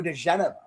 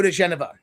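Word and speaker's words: diGenova: You know what the key was to being able to pronounce that name, like not being from Jersey or New York Standard, is that instead of looking at it as Gen, you look at it as Jen. DeGenova, DeGenova.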